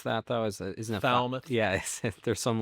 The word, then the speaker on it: Falmouth: It's named after someone in Felmouth. I think a bartender in Felmouth. Started Tommy's Place. It helps every week. Is that how you pronounce that though? Is Isn't that Falmouth?